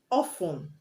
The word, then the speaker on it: often: For example, listen, often, Moisten, etc. You have TEN at the end of these words, but you do not pronounce the T.